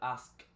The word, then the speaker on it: asked: De primero la K y después la T, aunque casi siempre este sonido de la K se elimina fonéticamente hablando y pronunciamos simplemente en pasado asked. Asked, A-S-T, como lo pueden ver aquí.